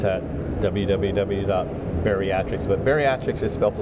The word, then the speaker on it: BEARiatrics: bariatric but bariatric is built a little bit different we spell it b e a r i a t